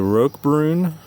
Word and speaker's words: Roquebrune: Heritage 40 from Cornish watches this is the Rog Brun that is spelled RQ e b r u NE e